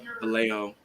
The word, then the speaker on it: Vallejo: It's pronounced Vallejo. Vallejo.